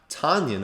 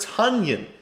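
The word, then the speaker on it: Tonyan: it is actually not tanyan i saw that on twitter apparently he came out he said it's pronounced kind of like a funyun is i didn't know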